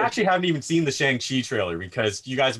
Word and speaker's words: Shang-Chi: Also, I found out it's Shang-Chi, not Shang.